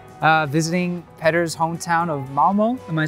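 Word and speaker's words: Malmö: here in Sweden uh visiting petter's hometown of Malmo am I saying that right Momo that's that's good perfectly fine perfectly fine pronunciation as many of the people probably already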